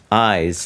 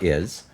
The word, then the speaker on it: Is: This magazine, Eyes, it's pronounced Eyes, not Is, Okay.